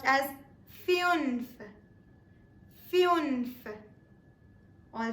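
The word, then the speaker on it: fünf: German is pronounced as fun fun paying stress upon the U with the umls or the two dots it's pronounced as fun fun all right with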